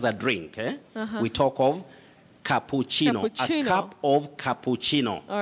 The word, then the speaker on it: cappuccino: is that correct yes you say cappuccino cappuccino not cappuccino and that word is